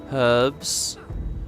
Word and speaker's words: herbs: there's lots of them herbs pronounced with the H can I just say